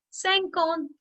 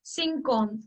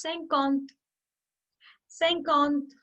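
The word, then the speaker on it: cinquante: 1 to 10 okay 50 in french is sank on because often the beginners they make a mistake of pronunciation and they often pronounce 50 as singkong so it's not synchron it's saying count now again now we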